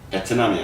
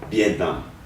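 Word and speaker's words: Vietnam: 되고 있습니다 또 마지막으로 베트남이 아니고 비에트남 예 앞으로 비남 이렇게 발음을 해주시면 더 좋을 것 같습니다 지명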